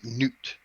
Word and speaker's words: Knut: name is okay so his name is spelled k-n-u-t it's a nuts enunciated as newt and who wrote that